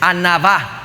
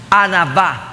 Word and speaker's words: anavá: La palabra humildad en el hebreo es anavá. Anavá. Dígalo conmigo, anavá.